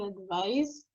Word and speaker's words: advise: The pronunciation is so. Another one is on the ace and Mm-hmm. l'autre on a Z.